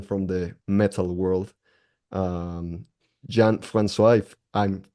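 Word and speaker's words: Jean-François: very legendary musician from the metal World um Johan franois if I'm pronouncing this correctly from the lot of people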